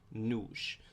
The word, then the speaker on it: nos: When we get to our first person plural, our we, ourselves, it's very similar to nós, but we remove the accent. It's pronounced nos. So nós, we, nos, ourselves.